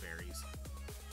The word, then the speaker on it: Berry: There's an argument that it's actually supposed to be called belly, but you know, Japanese pronunciation doesn't really have an L sign in it. Yeah. But now it's more universal that it's just berries.